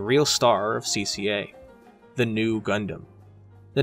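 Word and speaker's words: ν: would become Zeta so the Greek letter in lower case you know looks like a V but is phonetically new like the English word new so we get new Gundam get it huh get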